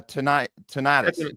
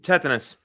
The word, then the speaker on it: tetanus: Uh pertusus mumps and uh ti tonitis. Tetanus.